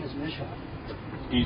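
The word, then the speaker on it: Mischer: My last name, my God-given name, is Misha. Can you spell that for me?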